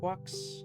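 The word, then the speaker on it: GQuuuuuuX: Quucks.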